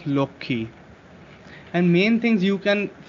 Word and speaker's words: Lakshmi: Lakshmi, we say it as Lokhi.